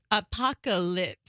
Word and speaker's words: apocalypse: It's almost like a pack of lips, but it's apocalypse.